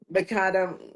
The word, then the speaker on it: macadam: the macadam. How do you pronounce macadam? Macadam, Macadam. but Just we in Europe we say street macadam, but I realized in England people say macadam, so it can be both.